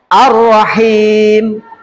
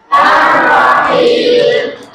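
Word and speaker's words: الرحيم: 1 2 3 Arrahman arrahim arrahim ada enggak Alif lamnya enggak ada kan melebur dengan ro seperti itu oke itu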